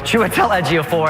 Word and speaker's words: Chiwetel Ejiofor: Chidawell Ejiofor, Chiwetel Ejiofor, and it's Chiwetel Ejiofor.